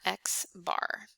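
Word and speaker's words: x̄: all the data and we call this x bar we pronounce that x bar then we find the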